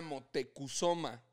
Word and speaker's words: Motecuhzoma: pero que la la pronunciación original era motecuhzoma pero que los españoles